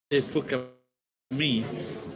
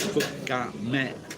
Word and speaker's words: Fukami: Did you expect me to say Fukami? But actually it's pronounced Fukame.